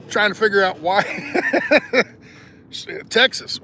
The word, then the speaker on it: Texas: the x or uh the X in Texas is pronounced with like an H Tas so anyway shouldn't